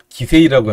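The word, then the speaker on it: 棋聖: 일본 화면에서는 이야마 유타 기성대 이치리 기료 기성 이렇게 되어 있는데, 이야마 유타 구단이 갖고 있는 거는 큰 기성 기세이라고 하는 거죠, 일본 발음으로.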